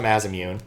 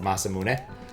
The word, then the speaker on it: Masamune: They always have a Mazamune, not pronounced that way, but years and years have made me want to pronounce it that way instead of Masamune.